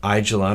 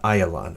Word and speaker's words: Ayalon: the valleys on the north side is the Ayalon Valley in English you hear pronounce the aijalon or a Jalan Valley but the correct Hebrew pronunciation is the aisle on Valley it is the biggest and the widest